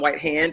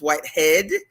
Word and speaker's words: Whitehead: I think I called him Whitehand. It's Whitehead. Adrian Whitehead is the general manager in Montego Bay, Jamaica, at the Hyatt Zolara and Hyatt Ziva.